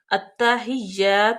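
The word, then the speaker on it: التحيات: अतहिया ला लावा त अब देखें कि हमजा हमजा के साथ लाम है और लाम जो है वह साकिन है उसके बाद आ गया ता तो हम लाम को साइलेंट का देंगे और हमजा को डायरेक्ट ता में मिलाएंगे ता मुद्दत भी है इसको सख्ती के साथ भी पढ़ेंगे अतहिया अतहिया लाही अब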